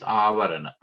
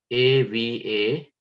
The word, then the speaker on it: avarana: Of each term, the second word that is combined with the first word is avarana, and that is spelled A-V-A-R-A-N-A, avarana.